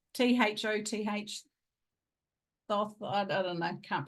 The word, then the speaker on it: Thoth: So he channels, I can never say his name, but it's Thoth, Thoth. How do you pronounce it? Not like Thor, Thoth.